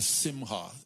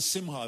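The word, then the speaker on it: simcha: like what in Jewish culture is called the simha s-i-m-c-h-a and it's pronounced simha and it's essentially what we have here it's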